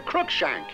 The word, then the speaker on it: Cruikshank: meet the family physician dr. Cruikshank with accent on the first syllable he made a house